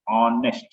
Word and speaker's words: honest: but in this FC silent so as we pronounce honest not honest honest so due to that I